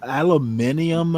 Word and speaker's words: aluminum: How do the British pronounce aluminum? Alum aluminium or some like that? Aluminium. Yep. Yeah. It's aluminum.